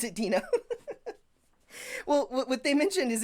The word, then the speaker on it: Deno: I will never pronounce Edina well what they mentioned is it's like dinosaurs and Dino is the dinosaur from the Flintstones yes this is this